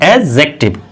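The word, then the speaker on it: adjective: ध्यान रखना ध्यान रखने वाली बात क्या है, ए और जे, इनके बीच में अगर क्या रखा रहता है? डी, तो ये डी का प्रोनाउंसिएशन नहीं किया जाता है, ध्यान रखना, ये प्रोनाउंसिएट नहीं होता है, यानी इसकी कोई ध्वनि आती ही नहीं, इसीलिए हम इसको क्या पढ़ते हैं? एडजेक्टिव। क्या पढ़ा जाता है?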